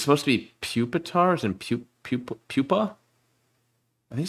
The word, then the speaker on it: Pupitar: larva tarzan larva and despite being spelt puppetar it should be pronounced pup pupitar as in pupa i don't [ __